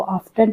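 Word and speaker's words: often: इसको आप दोनों तरीके से प्रोनाउंस कर सकते हैं, चाहे तो इसको ऑफ्टन पढ़ें या फिर ऑफन पढ़ें, ठीक है।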